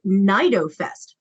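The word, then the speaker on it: CnidoFest: is a conference called naido Fest again starting with a silent sea wow so they presented a poster about our stinging snot at Nido Fest one year were you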